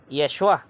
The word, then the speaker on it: Yeshua: ni Jesus ni Kristo in his Hebrew pronunciation which is Yeshua and aside from that